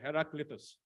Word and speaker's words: Heraclitus: philosopher his name was Mr let me just pronounce it correctly Mr heraclitus change as we sit here all of our